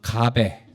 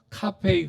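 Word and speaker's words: 咖啡: 한자로는 가베. 예, 근데 그걸 중국식으로 읽으면 예. 카페이 그러거든요. 카페이. 카페이. 예, 그러니까 중국식 발음으로는 카페이 하니까 커피랑 비슷하죠.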